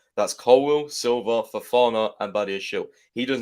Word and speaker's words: Badiashile: So, next one on the list, Big Benoit Badiashile. Or Badiashile, how it's supposed to be pronounced, but how does it rhyme with Lamborghini then? Well, it doesn't.